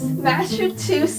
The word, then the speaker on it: Massachusetts: I will teach you. Mass. Chew. Sits. Massachusetts. Here, I will just sit in right here. I will say the one word. Okay. Massachusetts.